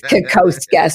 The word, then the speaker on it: Kokoszka: And the way you say my name, nobody can say it literally. It's Kakoska.